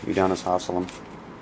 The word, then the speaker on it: Udonis Haslem: Udonis Haslem, 250. Mm-hmm. Say his name wrong? Yeah. Let me see. Oh yeah, Udonis Haslem.